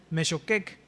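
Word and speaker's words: מחוקק: Miren, para la audiencia original, el cetro, esta viene del hebreo Shevet y el legislador, que es el mesoqueec, así es como se pronuncia, el que dicta los decretos, vaya, eran símbolos de soberanía nacional, tanto el cetro como el legislador.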